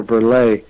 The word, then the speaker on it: Berleigh: How did they come up with the name Burley? That's such a cool, different name. Was it named in someone in the family? I think if you were in Scotland, it would be pronounced more BERLEIGH.